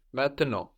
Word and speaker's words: maintenant: So those are swallowed up into the nose. And we have the final T totally silent as well. So we end up with maintenant or maintenant.